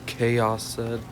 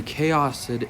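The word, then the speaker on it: Kaoson: The thing is, I've often thought, like, if the Chaos Assault Rifle was pronounced Chaos, that I felt like the other SMG should be pronounced Chaosin. Or at least I think so. Some of y'all might pronounce it differently. I think it's Chaosin.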